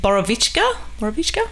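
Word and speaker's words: Borovička: I've had that drink, is it Borovichka?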